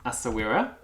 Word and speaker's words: Essaouira: So this is Sawira. And Sawira is actually, it's spelled a little differently. Essaouira is the name of a port in Morocco, which was very famous